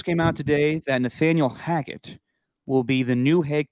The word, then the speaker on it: Hackett: No, Hackett. Oh, Nathaniel Hackett? Because you said Haggett earlier.